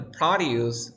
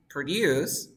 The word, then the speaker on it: produce: shares per year here although the highlighted words are spelled the same there's a difference in their pronunciation did you hear it listen again the broccoli can be found in the produce aisle these companies produce